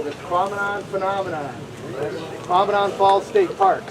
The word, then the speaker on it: Tahquamenon: us there we go rhymes with phenomenon so there you go this prominent phenomenon prominent falls state